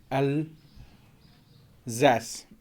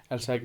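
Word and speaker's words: Alsace: इसको हम जो है असली में जो फ्रेंच में पढ़ते हैं एल जैस, क्या पढ़ते हैं, एल्जैस। लेकिन अब फ्रेंच है तो अब जिस बंदे को इसकी प्रोनाउंसिएशन का नहीं पता तो वो इसको एल्सैक भी पढ़ सकता है।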